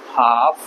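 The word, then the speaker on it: half: आप सारे वर्ड्स में एल साइलेंट होता है। इसको बोलेंगे शुड, इसको बोलेंगे वॉक, टॉक, हाफ, काम।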